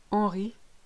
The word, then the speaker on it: Henri: Good news, you ignore your H's in French. Hollandais, Henri, honnête, hérisson.